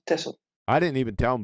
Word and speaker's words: Texel: Tessel is, you write it with an X, but you pronounce it Tessel.